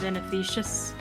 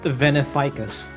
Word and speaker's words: Veneficus: I know it's pronounced like, Beneficious. It's Yeah. Latin. It's well, I guess that'd be the actual Latin word I'm thinking of, which means like poison. But It's obviously pronounced Veneficus.